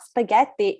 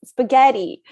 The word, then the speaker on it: spaghetti: One time they corrected me the word spaghetti, which is an Italian word, and they say it's not spaghetti, it's spaghetti.